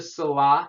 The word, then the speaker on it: Salat: Number 2 is the salah. You don't pronounce the T at the end. And the salah is the prayer.